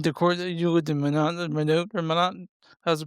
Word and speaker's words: Minot: Was there like a in Decorah that you lived in Minot or Minot? How's it pronounced? Mine not.